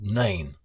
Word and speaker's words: Nain: It was called Nain, which rhymes with pain, which is exactly how most of their feet were feeling when they got near the town.